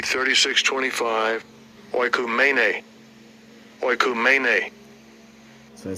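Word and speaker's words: οἰκουμένη: So this word world, it's Greek, and it's pronounced Strong's G 3625. Oikumene. Oikumene. So it says oikomene or oikomini, you know, and it says the inhabited earth.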